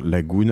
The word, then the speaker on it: Laggoune: Vous vous inscrivez, code La Martingale, et puis on te suit sur LinkedIn, sur Twitter, Lagoun. Alors Lagoun, ça s'écrit L-A-2-G-O-U-N-E.